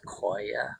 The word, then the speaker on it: cholla: This is a cholla. Clint informed me some people also call this koya, so depending on how you want to pronounce that.